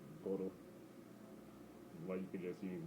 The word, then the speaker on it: BUIDL: On-chain products like BlackRock's Boodle, if I pronounced that right, I believe it's Boodle.